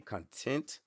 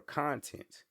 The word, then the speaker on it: content: And that's a word that's spelled one way, looks the same way, but can be pronounced two different ways.